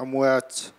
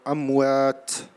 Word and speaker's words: أموات: And الهمس in أموات. Don't say أموات. يعني this is, don't mix between ta and sa. So أموات.